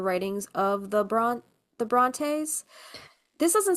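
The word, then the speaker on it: Brontë: Bronte. Bronte. Is that how you say her name? Bronte.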